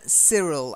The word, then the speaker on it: Cyril: a silent E then Cyril I know it's Y but we say see Cyril Cyril yes Cyril